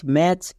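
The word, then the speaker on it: match: রেড কালারের লেখা হয়েছে কেন কারণ সাইলেন্ট লেটার উচ্চারণ হবে না next M এ টি সি এইচ ম্যাচ বি এ টি সি এইচ ব্যাচ এখানে দেখো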